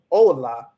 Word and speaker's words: hola: say no you don't don't pronounce the h and then make sure that you stress the make sure that you stress the o and not the i so what you're going to say is ola instead of hola right so then already